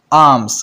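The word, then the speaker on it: alms: कहते हैं आर्म्स आर्म्स यहां पर दोस्तों एल साइलेंट है आर्म्स खैरात को हम इंग्लिश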